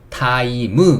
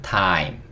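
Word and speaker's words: time: 그러니까 ' 타이미 ' 가 아니라 ' 타임 ' 인 거 죠 .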